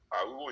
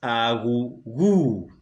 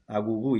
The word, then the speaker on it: Aghughu: Awuwu is spelled Aghughu. Let me help you to pronounce this. You are pronouncing it in American way. His surname is Aghughu. Aghughu, yes.